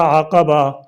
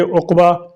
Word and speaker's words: عقبہ: بھی کہا جاتا ہے۔ اکثر لوگ اسے غلطی سے عقبہ اردو میں آخر کے معنی میں پڑھتے ہیں، جبکہ صحیح تلفظ عقبہ عین پر زبر، قاف پر زبر اور با پر زبر ہے۔ 10 تاریخ کو